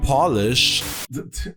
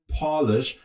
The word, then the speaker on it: polish: I mean, just take the World Championship opening, the top-notch casting, the trailers, the polish. Tim, it's written the same way, but it's pronounced different. I meant polish, not Polish.